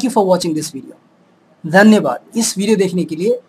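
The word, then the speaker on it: धन्यवाद: Thank you for watching this video, dhanyabad.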